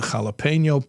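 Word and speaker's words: jalapeño: You know, I have the the tomato plant and the jalapeno plant.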